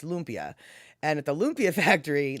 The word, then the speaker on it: lumpia: lumpia factory and they they pronounce it lumpia not lumpia it's lumpia and at the lumpia